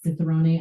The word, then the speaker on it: cicerone: are also, okay, so I've heard it pronounced two ways, the Americanized, like the Cicerone and then the Cicciarone, which I feel like is better and more right, which is the beer equivalent of a sommelier.